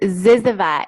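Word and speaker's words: Zyzzyva: don't know what that is how do you pronounce that Dallas cy z zy we it's Z Ziva it's actually the last word in the dictionary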